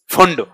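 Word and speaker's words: Pfund: P silent होता है इसमें, फुंड।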